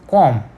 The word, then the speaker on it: comb: Okay, in the word comb we don't tell it as comb. Okay, we tell as comb.